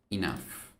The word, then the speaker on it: enough: Se escribe raro, pero se pronuncia algo así. Enough.